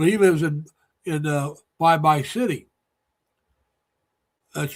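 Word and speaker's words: Baybay: So he lives in in uh Bye-Bye City. That's spelled Bay. Yeah. The way we were pronounced B- A Y B A Y. Yeah. But in the Philippines, it's pronounced Bye-bye.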